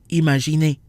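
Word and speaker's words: imaginer: and the N are not in the same syllable and so no nasal sounds are triggered imagine a so we said that vowels plus in or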